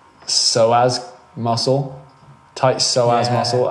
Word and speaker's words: psoas: I'm going to butcher the pronunciation of this, but it's psoas muscle, tight psoas Yeah.